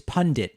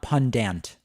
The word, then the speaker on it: pundit: And also, it's pundit, not pundant. Pundit.